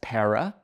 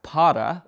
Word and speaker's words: para: has a double meaning as the word para depending on how you pronounced it can mean two different things in samoru by pronouncing the word as Pera which means for in samoru in what indicates pera's supports for the samoru language if you pronounce it as para which meant stop in samoru this indicated Potter's goal